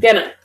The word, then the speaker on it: gonna: Gonna.